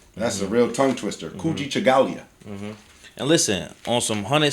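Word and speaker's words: Kujichagulia: Kuji Chagalia.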